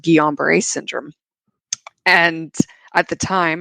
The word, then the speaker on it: Guillain-Barré: you, and I think you have something called Guillain-Barré syndrome. And at the time, I could not pronounce that. it's Right. Right. it's French, Yeah. but he says, it's, I think you have Guillain-Barré syndrome.